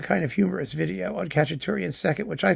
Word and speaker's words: Khachaturian: I pronounced his name Khachaturian. Why? Because it began with a KH. And actually you know, it had guttural suggestions.